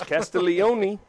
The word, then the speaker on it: Castiglione: I've been saying it wrong for years. Castiglione.